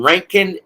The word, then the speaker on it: Rincon: is located right in Rankin Georgia or Rincon Georgia I don't know why they call it ranking it's spelled r-i-n but it's pronounced r-a-n Rincon Georgia all right and